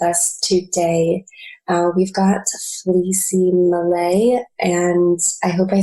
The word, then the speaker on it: Malay: the show with us today we've got Lucy Malay and I hope I said that correctly just